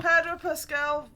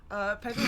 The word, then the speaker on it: Pedro: Padro Pascal fact. The fact is, I said his name wrong.